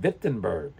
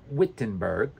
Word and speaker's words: Wittenberg: town in Germany called vitberg not Wittenberg remember w v vitberg now back to